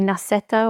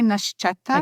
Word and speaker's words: Nascetta: Uh, would you say Nasetta or Nashetta? I would say Nashetta. Okay. I don't know actually how is it correctly pronounced, but at least those producers that I have spoken to, they say Nashetta.